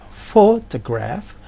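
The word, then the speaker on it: photograph: pertama adalah fortcraft jadi fotografer itu ada di penekanan ad Sorry of fortcraft ada tiga syllables dan penekanannya atau stresnya ada di si label yang pertama Divo fotograf Kemudian untuk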